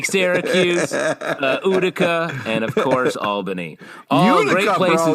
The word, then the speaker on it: Albany: Pronounced Albany in this show, which I think us upstate boys know. It's Albany. Yeah, it's Albany. Albany. It's always been Albany.